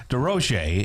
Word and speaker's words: DesRosiers: D Rochce is uh the senior director of programs and services for Alzheimer's Association.